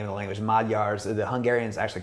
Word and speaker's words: Magyar: Magyars, the Hungarians actually call themselves Magyars, which is Magyar. It looks like Magyar, but the G and the Y is pronounced like a D sound, Magyar.